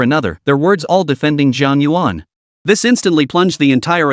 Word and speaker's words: Jiang Yuan: Did you mispronounce it? It's Jiang Yuan. It's Jiang Yuan.